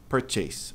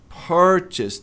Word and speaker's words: purchase: Olha a tônica aqui, purchase. Mas o correto é purchase. Purchasse, tanto pro verbo quanto pro substantivo. Não é purchase.